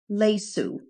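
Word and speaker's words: ليسوا: To say they, masculine, are not, we say laysu. Laysu. You'll notice that the aleph is silent.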